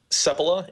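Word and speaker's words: Seppala: Sepala. It's Sepala. Finnish, like Nokia.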